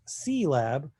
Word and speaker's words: CIELAB: at lab color space also known as c lab which is spelled c-i-e and that's an acronym